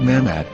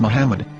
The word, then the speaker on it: מחמד: According to Ben Yehuda's Hebrew English Dictionary, It is correctly pronounced as Muhammad, not Mamad. So how we're going to know for sure if it's pronounced as Muhammad, the Muslim prophet, or as Mamad, a random Hebrew word?